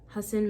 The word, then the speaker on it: Hassan: It's a book, but I'm assuming it's pronounced Hassan because of Hassan Minhaj pronounces his name the same way, and it's just a difference between 1 and 2 S's, so Hassan.